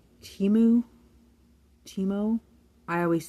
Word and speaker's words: Teemo: guy it's t e m o o timu teimo I always say it wrong he always has